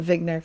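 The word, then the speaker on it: Wigner: I'm pronouncing it Vigner cuz Eugene Vigner, you know, he spoke German.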